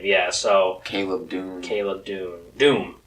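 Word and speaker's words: Dume: Yeah, so Caleb Doom. Doom. It's spelled weird. It's not Doom. It's like Doum, or I don't know. It's spelled really strange, but it's Doom.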